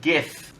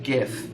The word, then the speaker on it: GIF: It's pronounced GIF. Litro, okay? It stands for Graphics Interchange Format, okay? G-I-F. It's not graphics. Giraffics. I love the graphics on my video game console. It's pronounced GIF.